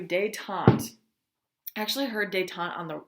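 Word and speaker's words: détente: was elected US president he called for day tante this is what it looks like I have it phonetically spelled out for you day Tom actually heard d'etat on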